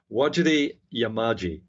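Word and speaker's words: Wajarri Yamaji: square kilometer array Personnel I did mispronounce that actually because because there's there's when you see it written uh what you pronounce is slightly different it is waji yamaji that's the correct pronunciation some of the Aboriginal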